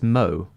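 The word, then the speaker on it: mot: even swears okay um pronounced mo uh it's french again literally means good word okay i'm sure they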